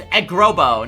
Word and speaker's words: Eggrobo: One word, Eggrobo. That's right, guys. It's Eggrobo, not Egg Robo. Eggrobo. If you don't pronounce it like that, it's like Ice Cap Zone.